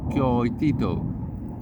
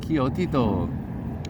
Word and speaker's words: Coyotito: She put Coyotito, I've been mispronouncing that the whole time, Coyotito, back in his hanging